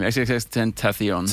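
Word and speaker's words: XXXTentacion: XXX Tentacion.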